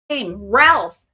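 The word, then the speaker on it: Routh: Brandon Ralph. You hear that? That's how you pronounce his name. Ralph like uh it's not that bad.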